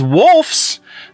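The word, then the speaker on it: Wolfs: thing in here is wolfes the new Brad Pit George yeah I did not say that incorrectly W lfs is the how the movie is spelled but the new Brad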